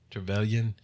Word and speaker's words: Trevelyan: How do you pronounce his name? Trevelyan.